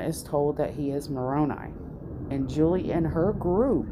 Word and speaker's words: Moroni: past life now remember i pronounced moroni moroney i just go with me guys um he